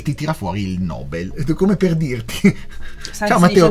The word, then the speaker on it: Nobel: E lì c'è scritto che è Nobel, la pronuncia più corretta.